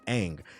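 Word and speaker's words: Aang: Nobody stopped to pull the show up and see that his name is pronounced ang.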